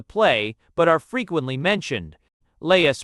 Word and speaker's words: Laius: Laius pronounced as 3 syllables, la-e, word, the last king of Thebes, before Oedipus.